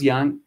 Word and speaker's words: young: Dice, cuando yo, when I was young, cuidado con la pronunciación de young, si es más abierta esa O, when I was young, cuando estaba joven, dessert was my favorite part of every meal.